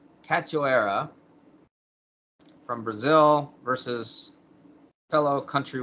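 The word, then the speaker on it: Priscila Cachoeira: women's bantamweight uh priscilla i think it's pronounced cat cachoera from brazil versus fellow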